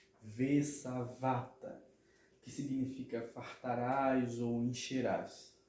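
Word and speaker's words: ושבעת: Porque a palavra ela é uma palavra mile'el, paroxítona, ok? Então, a pronúncia dessa palavra vai ser sa, va, tá, ok? Vesavata, que significa fartarás ou encherás, ok?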